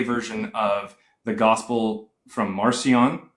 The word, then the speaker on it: Marcion: Mark is more than likely just a play version of the gospel from Marcion, or pronounced Markion when he was alive, or in ancient Rome.